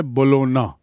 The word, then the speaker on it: Bologna: उच्चारण है बोलोना, G silent है. And Bologna is in Italy.